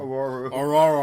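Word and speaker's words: Ororo: And he pronounced Storm's real name... Aurora.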